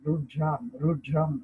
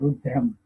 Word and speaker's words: Rudram: Rudram in India, Rudram actually. In English, we pronounce it Rudra, but actually it's Rudram.